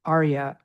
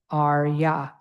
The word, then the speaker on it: arya: And then the next word arrya. There we have the a and father again with uh the arya like that tara and then yay.